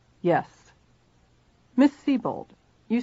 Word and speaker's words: Sebold: Is that the way it is pronounced?" "Yes." "Miss Sebold, you said you were at 321 Westcott Street on the night of the incident."